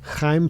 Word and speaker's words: Chaim: Uh The Chosen by Chaim Potok. Is that how you say his name? Yeah. Okay. That's nice. It's a It's like a guttural H.